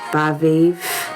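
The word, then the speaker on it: Badb: So the first one we have is Baviv. It's spelled Badabi.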